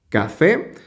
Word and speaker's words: café: la siguiente palabra es café tiene dos sílabas café eh dónde se pronuncia con la mayor fuerza de voz es en esta sílaba porque decimos café por lo tanto es